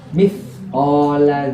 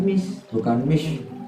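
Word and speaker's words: مِثْقَالَ: Nah, terus sa contohnya mithqala dzarratin, mithqala dzarratin, bukan mish, salah. Ini bacanya mithqala dzarratin, ini seperti itu.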